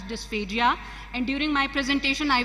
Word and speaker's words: dysphagia: The term dysphagia is pronounced differently in various parts of the world. However, in Pakistan, we often pronounce it as dysphagia, and during my presentation, I will be pronouncing it as dysphagia.